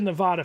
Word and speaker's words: Nevada: Also, you mispronounce Nevada in every video.